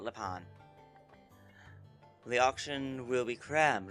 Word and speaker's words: Lepanne: of lean and yes that is how the game pronounce it before any French or whatever people get on my case they call it Leon the auction will be